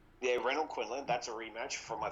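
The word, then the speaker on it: Renold Quinlan: That's how you pronounce his name, right? Yeah, Renaud Quinlan.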